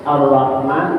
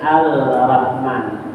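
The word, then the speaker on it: الرحمن: seperti ia baca parah yaitu Arrahman bacanya alrahman hilang tasibnya ya Nah bifil idram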